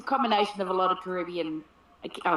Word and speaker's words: Caribbean: Well, that's the way that we say Caribbean. Yeah. And I know that in America they say Caribbean. This is a different accent on a different part of the word, right?